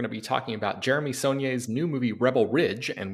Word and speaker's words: Saulnier: Jeremy although I realize if I'm pronouncing his name wrong how do you say it it's son I always thought it was sonier but so did I yeah son is is